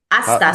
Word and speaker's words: hasta: Aasta. So, the H is not pronounced.